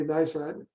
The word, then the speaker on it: NISOD: You did pronounce it correctly, NISOD.